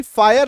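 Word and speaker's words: fire: देख पा रहे कि एफ आई आर ई फायर लिखा हुआ है। लेकिन यहां पे स्पेलिंग में वाई होना चाहिए था ना।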